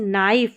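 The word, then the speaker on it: knife: पर न साइलेंट है ध्यान रखिए जैसे नाइफ में पढ़ा हमने के साइलेंट है के एन के कॉम्बिनेशन में जी एन ए टी इसको नेट पढ़ रहे हैं क्या पढ़ रहे हैं?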